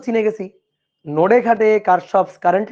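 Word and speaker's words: Kirchhoff: কারশফস current law, current law এর উচ্চারণটা হচ্ছে কিরশফ, অনেক সময় কেউ কেউ কিরশফও বলে, কথা একই। ঠিক আছে, কারশফ কিরশফ একই কথা।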